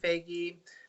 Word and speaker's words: Feige: Oh, I believe Marvel's head, Kevin, I can't pronounce his last name, Feige, thank you, is in talks with Keanu Reeves to bring him into the MCU.